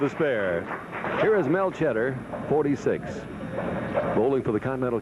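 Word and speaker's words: Tschetter: Mel Cheddar. He spells it T-S-C-H-E-T-T-E-R, but says it's pronounced like the cheese, cheddar.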